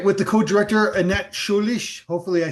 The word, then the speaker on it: Scheurich: With the co-director, Annette Schulish. Hopefully, I said that right. How How good was I on a scale of pronouncing your last name?